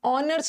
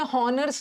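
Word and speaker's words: honours: ऑनर्स में हॉनर्स नहीं होता, ऑनर, तो सब में एन लगाना।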